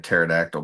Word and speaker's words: pterodactyl: Oh, Rob says, why can't you hear a pterodactyl pee? Because the P is silent.